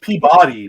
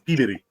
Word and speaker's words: Peabody: still uh PE bitty because it says Peabody but it's pitty it's PE like like